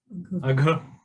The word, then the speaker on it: Agha: Agha. Agha. It has two syllables. What are the two syllables? A and Gha. Please hear carefully. A, Gha. Both in Sanskrit are sounds which come from the throat.